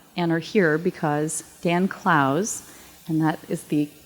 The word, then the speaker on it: Clowes: sure you know and are here because dan klaus and that is the correct pronunciation um is one of the most celebrated